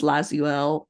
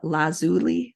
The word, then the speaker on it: lazuli: stones such as Carnelian turquoise amethyst agot lapis lazel La I had to look this up how to say it lazuli lazuli and Jasper clear quartz and aqua aquamarine